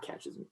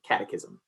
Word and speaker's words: catechism: And, excuse me, not catechism, catechism.